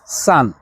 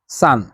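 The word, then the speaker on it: 三: এখন তিন তিন কিভাবে বলবে চাইনিজে সেটা হচ্ছে সান সান এরকম তিনটা দাগ থাকবে একটার উপর একটা এটা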